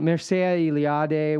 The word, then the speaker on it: Mircea Eliade: But it's one of the things that when Mircea Eliade, when I think that's how you pronounce his name, but dang it, I was about to say finally I know how to pronounce his name.